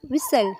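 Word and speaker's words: whistle: सीटी मत बजाओ, डोंट विसल, डोंट विसल। इसमें टी साइलेंट हो जाएगा।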